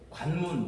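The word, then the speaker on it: 関門: 그거를 그대로 우리식으로 발음하면 관문이에요. 우리가 어디를 들어갈 때 관문, 여기를 통과해야 된다라고 이야기하잖아요.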